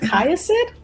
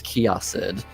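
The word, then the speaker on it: Kiasyd: Do you perhaps know what a kiosid or a vagar are? I feel like I just butchered the pronunciation on that first one. Is it kayasid? It's kiosid. Kioid. Okay. I was closer the first time.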